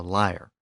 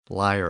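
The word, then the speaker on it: lyre: harp-like instrument called a liar and I recognize there are different pronunciations of that instrument but liar appears to be the most common pronunciation so that's what I'm going to use here in addition to that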